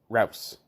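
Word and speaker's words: Ruas: It's A-R-T, yeah, A-R-T-U-R-O, Arturo, R-U-A-S, Rouse.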